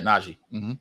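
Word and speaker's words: Nnaji: they they acquired for Carl Anthony Towns, James Naji, is that how you pronounce his name? Correct. Yeah. Naji.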